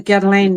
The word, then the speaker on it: Guerlain: butcher the Chanel names and the Guerlain names. It's just awful. Oh Yeah. my God. Oh my, I can't. Girl. Oh my God. Girl. Girl. I don't know how they say it, but it's Guerlain.